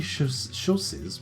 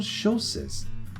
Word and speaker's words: chausses: Frilly chausses? What are chausses? I'm going to have to Google that. Let's have a little look at what a chausse is.